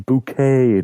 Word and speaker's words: Bucket: called har bucket but she pronounces her surname bouquet darling get around that